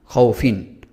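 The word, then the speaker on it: خوف: যদি থেমে যেতে হয়, আমরা যদি না থামি তাহলে এখানে কোনো টান হচ্ছে না, খৌফিন বাই তিন। কিন্তু যদি থামি তখন কিভাবে উচ্চারণ হবে?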